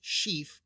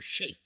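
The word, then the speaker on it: Sceaf: our attention to the name of ScaF on our genealogy, pronounced she or she.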